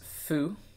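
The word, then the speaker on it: ふ: are all beautiful okay this one is foo so there's no there's no who um and it's it's sort of like a soft f so it's it's not like who it's who or something like that they spell it with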